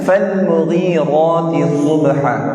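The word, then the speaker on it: فالمغيرات صبحا: Ayat 3, fal mughirati subha. Nah, sama ya. Lam di situ jangan mantul, jangan tawaddud, cukup fal mughi. Ya, huruf ghain pakai ya 2 harakat, ra 2 harakat, di situ ada harakat 2.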